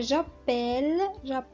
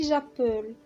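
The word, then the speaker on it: j'appelle: هي يتصل، ولكن في جابيل لاحظوا معايا في النطق ما كنسمعوش ماشي جابول ولا شي حاجه، كنقولوا جابيل وكندوبليو فيها ال دوزل.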